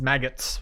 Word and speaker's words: Magus: Let's make it rhyme with maggot. His maggots level.